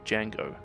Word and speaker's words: Django: a space cowboy named Django. The D is silent.